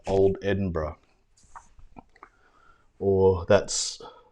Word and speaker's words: Edinburgh: with permission there's a Facebook page called old Edinburgh or that's mispronounced Edinboro food my American friends just Jake and it's